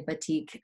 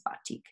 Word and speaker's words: batik: um so I'm saying btik sometimes they'll say btiq um but the pro correct pronunciation is batik um and so obviously like on your left